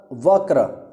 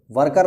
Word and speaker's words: वक्र: होगा व क्र र वर्कर नहीं होगा आप वर्कर बोलोगे तो गलत हो जाएगा भाई ध्यान रखना देखो सही उच्चारण बहुत जरूरी है तो व क्र र व क्र र इसका सही उच्चारण है बकरा बटेर का तत्सम